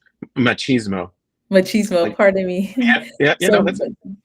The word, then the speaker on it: machismo: is um you mentioned that how do I pronounce it again is is machos machismo machismo pardon me machismo for you said more that's a common term